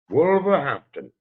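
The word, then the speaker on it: Wolverhampton: said you're fighting in wolver make sure I'm pronouncing that correctly where is it wol wolver Hampton wolver Hampton so what's that fight look like how how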